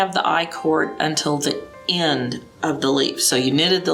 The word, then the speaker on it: i-cord: are knitting a an i-cord which is spelled letter i space c-o-r-d the word chord so it's letter i chord that's a kind of